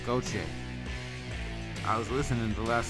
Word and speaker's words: Gauthier: It's Goche. I was listening the last time we played, and I'm trying to record it in my memory banks. It's Goche. Goche. It don't sound nothing like it's spelled.